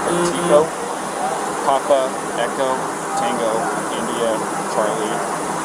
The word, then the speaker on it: Petito: Gabrielle, how do you spell that? G-A-B-R-I-E-L-L. And your last name? Petito.